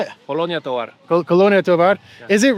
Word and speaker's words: Colonia Tovar: Colonia Tovar.